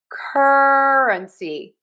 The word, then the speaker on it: currency: So we are going to pronounce this currency. Currency. I am stressing syllable number one. Cur cur completely reducing unstressing my uh my schwa syllable. And then I have a little bit of stress on C.